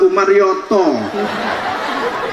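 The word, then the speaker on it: عمريطي: Ain mem ro ya to ya dibaca Umar Yoto.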